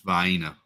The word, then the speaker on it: Vienna: cheese sandwich anymore um how do you say Vienna I say Vienna Italy but when it comes to the sausages Jonathan Chong it's viena just because that's what I grew up saying all smiles I see